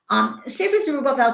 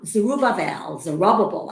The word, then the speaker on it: Zerubbabel: So the Zerubbabel, I guess is the English pronunciation, who serves as the